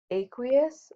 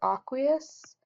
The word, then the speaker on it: aqueous: And AQ is aqueous or aqueous, depending on your pronunciation.